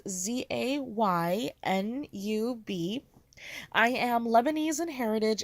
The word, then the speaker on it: Zainab: - my name is aina the pronunciation I like to give is za y and UB I am Lebanese and